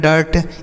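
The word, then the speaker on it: dirt: अगला तरीका दोस्तों कि अभी हमने आपको बताया कि यू के बाद अगर आर होता है तो उसका उच्चारण ए होता है। जैसे हमने पढ़ा कर्ड इस तरीके से पढ़ा ना कर्ड डर्ट इस तरीके से हमने शब्दों को पढ़ा।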